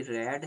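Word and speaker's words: read: यहाँ पे वर्ब की फर्स्ट फॉर्म आई है, फर्स्ट फॉर्म में रीड पढ़ते हैं, और रीड को स्पेलिंग सेम रहती है, सेकंड फॉर्म और थर्ड फॉर्म में रेड पढ़ा जाता है।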